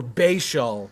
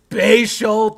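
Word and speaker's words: Bhayshul: Lucian with $5 said, "Your favorite rookie whose first name rhymes with sea shell." That is a stretch for Bashell. But basial tootin baby future RB1 if he as long as he stops fumbling in camp.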